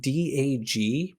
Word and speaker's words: DAG: The acronym DAG, pronounced Dag stands for Directed as in,